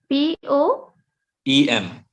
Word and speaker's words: poem: How do you pronounce the word POEM? P-O, EM. poem, Okay, it's poem. poem. Oh my God, this is Yes. different. You can't Poem. say, there is no Y in this word, right?